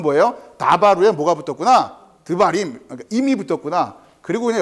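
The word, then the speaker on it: דְּבָרִים: 그러면 다바림 이렇게 발음되면 얼마나 좋아요. 임 외우기도 머리 아픈데 임이 붙는 순간 다바르가 어떻게 발음된다고요? 드바림으로 바뀐단 말이에요.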